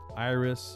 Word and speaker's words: IRYS: Iris, you cannot mispronounce it. But you can go just spell it. Hello IRYS. Like an IRS.